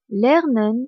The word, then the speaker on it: lernen: n le verbe learn signifie apprendre ou étudier lenen s'écrit l e R n e n il ne